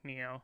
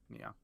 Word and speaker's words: Nioh: Is it Neo? NIOH? Is that how you pronounce Yeah, it? Neo. Yeah. Yep. Neo.